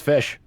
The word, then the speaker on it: ghoti: What was O as in women, and then TI as in like caption. Bro, you Fish.